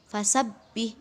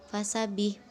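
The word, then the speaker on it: فَسَبِّحْ: ketentuan pada ayat ketiga fasabbih bihamdi rabbika nah apabila nanti bertemu dengan huruf yang bertasydid maka ditekan ya Jadi fasabbih bukan fasabbih Khan terakhir bila ada fathatain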